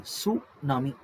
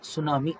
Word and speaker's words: tsunami: ಸುನಾಮಿ ಅಂತ ಕರೀತೀವಿ ನೋಡಿ ಸುನಾಮಿ ಟಿ ಸೈಲೆಂಟ್ ಆಯ್ತಾ ಟಿ ನ ಉಚ್ಚಾರಣೆ ಮಾಡಂಗಿಲ್ಲ ಟಿ ಸೈಲೆಂಟ್ ಸುನಾಮಿ ಅಂದ್ರೆ ಜಾಪನೀಸ್ ಪದ ಅದು ಹಾರ್ಬರ್ ವೇವ್ ಅಂತ ಕರೀತೀವಿ